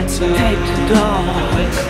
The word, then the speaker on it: Tête d'Or: Nous arrivons à rue de la Tête d'Or. Faut le prononcer comme ça, sinon c'est pas juste.